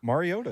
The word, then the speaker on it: Mariota: Are we saying it right? Mariota? Mariota is right.